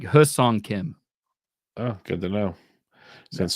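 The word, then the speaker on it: Hyeseong Kim: watching the their Spring Training Game the why is silent apparently so it's it's it's h it's like hus on Kim oh good to know since someone decided to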